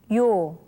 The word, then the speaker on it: 요: 요, 요, 요. Now, this letter is pronounced as yo.